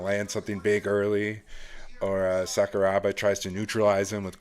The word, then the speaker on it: Sakuraba: Sakurabara Sakuraba. Sorry, I always get that mixed. I always pronounce it wrong.